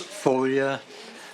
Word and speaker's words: Foglia: Next, we have Foglia. Did I pronounce that correct, I hope? Is pronounced folia. The G is silent.